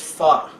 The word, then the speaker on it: pho: It's pronounc it's spelled pho, but is actually pronounced fu.